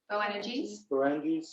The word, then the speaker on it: Boanerges: Boanerges, yeah, which is the sons of thunder.